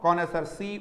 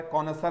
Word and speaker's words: connoisseur: एक स्पेलिंग मैंने आप लोगों के सामने लिखी है, कॉनसर। कौन सा वर्ड आया है, बोलो, कॉनसर, CONNOISSEUR, कॉनसर।